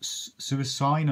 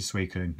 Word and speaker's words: Suicune: Suicune, or I've heard it pronounced Suicune, and it's a Suicune as far as I'm concerned, which is hollow.